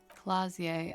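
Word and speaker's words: Klaasje: Clausier Amandu. Clausier. Okay. I have not been able to pronounce her name at all. I'm so glad she pronounced it. Clazier.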